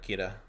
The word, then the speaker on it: Kira: yeah it's just it's because like the l syllable doesn't exist in japanese basically it's the l sound so they they say like kira so yeah so it's